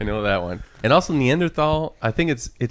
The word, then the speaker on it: Neanderthal: You know, just like the word Neanderthal is actually pronounced Neanderthal. It's not TH, it's Neanderthal.